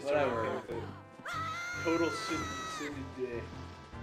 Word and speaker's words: tsundere: You're gonna put that in like in the description, aren't Tsundere. you? Just put in what you think how you think it's spelled. Okay? It sounds like SUNDREA. Tsundere.